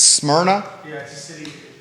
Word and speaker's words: Smyrna: you say the name of this new restaurant s-m-y-r-n-a yeah it's smyrna it's a greek city it's a city in greece smyrna okay so the restaurant's name is smyrna thank you antonio banderas alex irpe from the